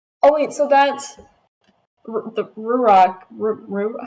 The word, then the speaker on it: ruach: so you say it's pronounced like ruach, but it's kind of a guttural het at the very end.